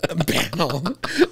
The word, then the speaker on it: banal: I used the word banal the other day. But now? Oh, excuse me. Am I saying it wrong? Yeah. Banal. Sounds like a Batman villain. Oh, it's Banal.